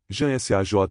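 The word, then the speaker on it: Ham-Sah: Muitas vezes tenho explicado a vocês como se trabalha com o mantra Ram SAH, que se pronuncia assim, Jan SAJ.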